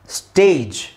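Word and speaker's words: stage: ಅಲ್ಲಿ ಎಂಡ್ ಆಗಿದೆ right so ಜಿ ಇ ಅಲ್ಲಿ ಎಂಡ್ ಆಗಿದೆ ಇದನ್ನ ನಾವು ಸ್ಟೇಜ್ ಅಂತ ಹೇಳ್ತೀವಿ ಹೊರತು ಸ್ಟ್ಯಾಗ್ ಅಂತ ಹೇಳಲ್ಲ ಒಂದು ವೇಳೆ ನಿಮಗೆ ಸ್ಟ್ಯಾಗ್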